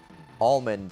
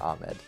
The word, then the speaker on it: almond: But the research I just did backed up that almond is the weird one. All right, sure. Whatever helps you sleep at night. It said in California you pronounce it almond. Almond, not Ahmed.